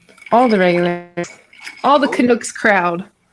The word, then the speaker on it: Canuck: Ghoulies, the top, all the regulars, all the Canucks crowd. You Americans saying Canucks. Canucks? Knock. Canuck. Like a hockey puck. Like a duck.